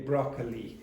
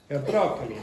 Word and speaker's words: broccoli: And you would always say broccoli cuz like the Italians. Okay. Broccoli.